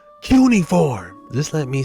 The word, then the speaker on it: cuneiform: Chuck, it's pronounced cuneiform.